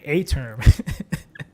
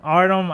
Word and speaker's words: Artem: And that I always want to say A-term. It's his name or whatever. Oh, yeah. Is how you pronounce Artem. it? Artem.